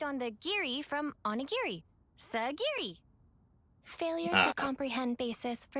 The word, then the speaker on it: Sagiri: Sagiri? I know it rhymes with onigiri, but what was the actual reason?